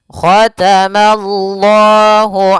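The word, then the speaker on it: ختم الله: Itu untuk huruf lamnya tebal. Khatamallah. Maynya tipis. Mallah. Khatamallah. Khatamallah. Ya, mananya tipis, Allahnya tebal.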